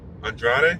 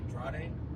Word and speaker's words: Andrade: And apparently now we got Andrade and Angel, who again were feuding not 1 week ago.